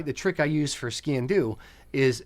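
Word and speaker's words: sgian-dubh: try to my the trick I use for skin do is say it like skiing but leave off the last G so skin do um for that one but it's it's it's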